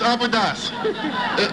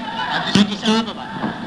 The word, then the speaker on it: Addis Ababa: I know the capital of Ethiopia, it's Abydos. Is that correct? What? Abydos, Ethiopia, that's the capital of the country? Addis Ababa.